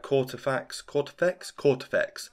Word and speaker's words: Kortifex: That I imagine that's what they put on all their other socials, that Kortifex, I'm pretty sure that's how you say it, Kortifex must die.